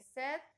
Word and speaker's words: said: Y en el último caso, nuestra clase dice que said rhymes with bed.